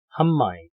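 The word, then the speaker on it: המים: 그러니까 마임에다가 앞에 헤이를 붙이고 발음은 하라 그랬죠. 하. 그 다음에 미음이 시작으로 되잖아요. 그러니까 미음을 하나 더 붙이는 거죠. 그러면 발음이 어떻게 될까요? 한마임.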